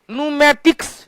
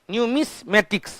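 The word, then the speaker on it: numismatics: न्यूमेटिक्स, न्यूमेटिक्स सिक्का का अध्ययन, न्यूमेटिक्स स्पेलिंग याद रखेंगे, न्यूमेटिक्स स्पेलिंग होता है NOO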